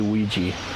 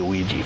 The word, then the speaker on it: Ouija: I pronounce Ouija, so I'm going to say Ouija, even though it's spelled Ouija. I say Ouija.